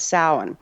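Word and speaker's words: Samhain: the Celtic tradition is the season of of sin and that's pronounced sa but it's spelled Sam Hayne so people misund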